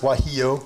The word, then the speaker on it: guajillo: Yeah, that's pronounced guajillo. The G is.